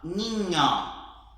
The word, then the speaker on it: niño: Agora, nas outras palavras que a gente tiver a presença da N, nós vamos fazer som de NH no português, ok? Então vamos lá? Essa aqui, ó, niño, mañana, niño, mañana.